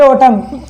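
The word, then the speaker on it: autumn: ये हो गया के पहले एल आ रहा है तो यहाँ पर ये भी साइलेंट हो जाएगा। ऐसे हो गया ओटम, इसे बोलेंगे ओटम।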